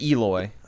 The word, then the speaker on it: Eloi: technology and stuff, where how did you pronounce it? The Eloi? Is that how they're pronounced? Yeah, the Eloi.